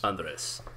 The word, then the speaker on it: Andres: There's an S with at the Andre. S, yes. Andres. Yes.